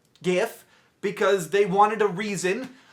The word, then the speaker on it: GIF: should be GIF because it's graphics interchange format.